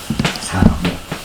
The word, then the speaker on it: 사모: 여기는 원래 식모가 아니고 사모입니다. 이건 사로 읽으셔요. 사모.